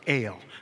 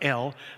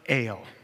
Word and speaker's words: El: We pronounce it El, not El, but El. Okay? It's a long kind of E.